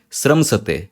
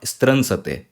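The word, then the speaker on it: स्रंसते: Similarly, sramsate, not stransate, sramsate. Okay.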